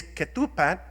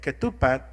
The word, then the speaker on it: ketupat: This is ketupat, and that's how they say it, ketupat in Indonesia. They have ketupat, we have katupat.